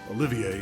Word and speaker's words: Olivier: on their honeymoon, but Olivier insisted I not go. Okay, I'm chiming in here because for the longest time they called him Olivier, which... If he's doing the French pronunciation, he's doing it correct.